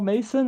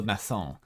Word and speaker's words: Masson: Paul Mason and Nuh-uh, it's Paul Masson. Pronounced like Masson.